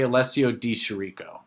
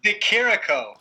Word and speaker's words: Di Chirico: to I'm just saying his name is Alessio Di Chirico. I know that's wrong. It sounds cooler this way. Chirico. I think it sounds cooler if I say Alessio Di Chirico.